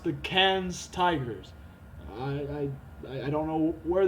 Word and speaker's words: Cairns: Our fellow Australian Max Ixer is pronounced the Cairns Tigers.